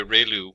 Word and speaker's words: ReLU: we have the relu it's pronounced like rey the from the sun and lu like a name so relu function and we have